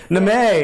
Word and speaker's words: Neme: Neme is how it's pronounced in my family, but Guy Neme.